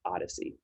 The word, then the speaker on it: OHDSI: data sciences and informatics collaborative or ohdsi pronounced odyssey a really big worldwide